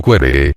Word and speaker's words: quaerere: Quaerere, pronunciado querere, y luego querere, no era un simple querer algo, sino hacer indagaciones o búsquedas para lograrlo.